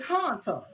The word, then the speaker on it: Hanta: So it's Hanta. It's like a hunt, like the haunted house. Right. Like haunted house.